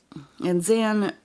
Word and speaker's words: Xan: And Zan, it's spelled with it's Xan, and it's actually short for Alexandria, which is her full name.